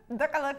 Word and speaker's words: décolleté: Like, decollete.